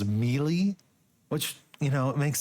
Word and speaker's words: melee: completely mispronounced um like I uh pronounced melee as melee which you know it